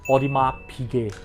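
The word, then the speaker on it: Audemars Piguet: whole name it's actually odima Pig the S is silent the t is also silent let me show you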